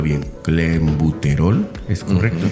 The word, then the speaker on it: Clenbuterol: A ver, voy a intentar pronunciarlo bien. Clenbuterol, ¿es correcto? Clenbuterol, sí.